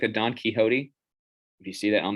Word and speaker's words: Quixote: that on the screen that's how you pronounce it I was I know I pronounced it on quick so for a long time the Don Quixote uh Quixote honesty is the best